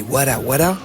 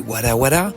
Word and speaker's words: Wara Wara: La prononciation se rapproche de war qui signifie nous et qui désigne un collectif. Les wala sont une source de vie qui émane de la nature.